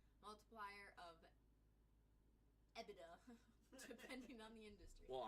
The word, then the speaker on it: EBITDA: We are pronouncing it right. EBITDA.